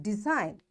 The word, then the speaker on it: design: So this G is silent and we'll say it design for sign a line resign a sign rain clone campaign campaign.